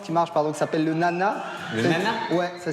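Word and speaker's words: Nae Nae: Il y a une danse qui marche, qui s'appelle le nana. Le nana? Ouais, ça s'écrit N-A-E, N-A-E.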